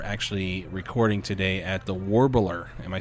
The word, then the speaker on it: Warbler: And we are actually recording today at the Warbler.